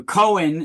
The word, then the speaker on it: Cohen: Cohen is a very, or it's pronounced like cone, right?